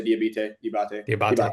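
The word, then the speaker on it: Diabaté: It started off between Jalen Duren and Diabite. I don't know how to pronounce his name. Musa Diabate, yeah.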